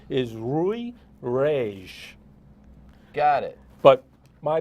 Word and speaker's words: Rui: but it would ordinarily be spelled rui and pronounced rui okay but mike sound in portuguese yes and the last name would actually be pronounced rage okay so the portuguese version of my name is rui regis got it but my parents uh being